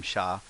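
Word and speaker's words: しゃ: so sha shi ya become sha as in shopping or shah of iran ji and ya ja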